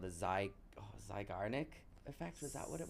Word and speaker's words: Zeigarnik: Sure, you pronounce it like this. Zeigarnik effect.